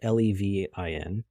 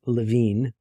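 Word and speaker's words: Lewin: and if you look him up it's not leev n it's l w n he's a German American so his name is pronounced actually it's LaVine looks like Luen but he came up with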